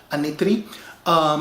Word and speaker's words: Anitri: Now, the Anitri people, that is how you say it in my native language, Anitri.